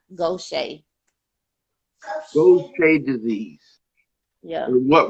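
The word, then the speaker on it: Gaucher: gift the attitude is Goshay disease it's not spelled like that because it's French originated um it's like go go Shea s-h-a-y Goshay those play disease yeah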